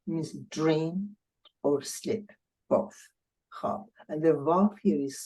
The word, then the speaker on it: خواب: facilitated to the خواب, and the verb is silent. I mean, you don't hear it anymore.